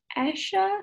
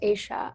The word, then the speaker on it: Asha: amazing thank you um asha sorry if i mispronounced your name do you have a question no it's okay it's it's pronounced asia um sorry that's okay